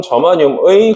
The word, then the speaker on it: 저마늄: 저마늄이라고 읽어요. 저마늄. 규소 혹은 실리콘 저마늄의 공유결합만으로 이루어져 있습니다.